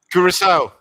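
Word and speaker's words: Curaçao: How do you pronounce it? Kurissau.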